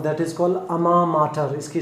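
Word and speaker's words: alma mater: और आज के सेशन का लास्ट इडियम मैं आपके सामने लेके आ रहा हूँ, दैट इज़ कॉल्ड अमा माटर। इसकी स्पेलिंग बड़ी अजीब है क्योंकि ये फ्रेज फ्रेंच लैंग्वेज से लिया गया है, अमा माटर।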